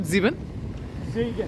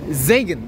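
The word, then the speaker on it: Siegen: इज इट जीबेन? जेगन, right? या सो इट्स जेगन.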